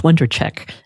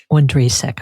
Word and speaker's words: Wondracek: So I've been saying your name wrong for a month. I took it for granted it was Wondracek, and it's not. You were saying Wondracek. Wondracek, okay.